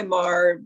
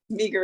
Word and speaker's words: Meagher: No, some people call me Meagher, but Yes, either way. that's totally what I've. Yeah, I go by Mar normally, but Meagher is okay too.